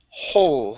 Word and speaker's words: whole: okay very good and your last word here is the word whole okay pronounce an H whole the whole landscape the